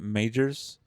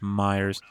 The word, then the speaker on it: Meijer: I mean, a lot of people pronounce it Meijers or Meijers, but I'm pretty sure it's pronounced Myers.